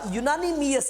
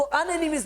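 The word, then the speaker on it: unanimous: जरा यूनानिमियस, इसकी प्रोनाउंसिएशन है यूनानिमियस, जरा ये याद रखें, यूनानिमियस, इसकी जो प्रोनाउंसिएशन है वो है यूनानिमियस। हाँ, अगर इसको अनएनिमियस पढ़ेंगे तो मिस्टेक करेंगे, you will make mistake if you pronounce like that.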